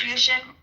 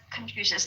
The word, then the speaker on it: Confucius: confusion? Hold on. Go ahead, Sabine. Confusion, for example, confusion, right? Or confusion, if I'm pronouncing it right, the Chinese philosophy, right? That Confucius? Confucius, thank you.